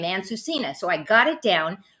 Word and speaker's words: Ansusinha: laughing beforehand how do you say your name aunt susina so i got it down where is where's